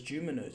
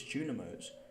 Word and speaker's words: Junimos: I've been pronouncing it wrong the whole time. I've always thought it was Juminos. It's Junimos.